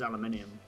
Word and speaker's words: aluminium: And that's how we pronounce it, is aluminium.